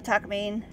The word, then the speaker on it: Takamine: Plot of my next work, Junsei Takamine, or Takamine is how they pronounce it.